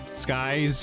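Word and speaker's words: Cykes: Athena's surname is pronounced Skies.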